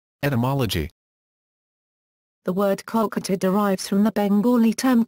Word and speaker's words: Kolkata: 2001, when it was changed to Kolkata in order to match Bengali pronunciation.